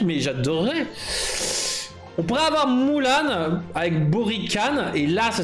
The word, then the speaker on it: Mulan: Je suis pas un grand fan de Mulan. De Mulan plutôt. Je reprononce correctement.